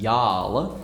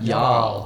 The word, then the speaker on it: y'all: or something like that, loaned into their own dialect as y'all, as if it's spelt Y-A-R-L. Oh. Yeah, y'all. Specifically with the bath vowel. With the bath vowel. Yeah, or the start vowel, I guess.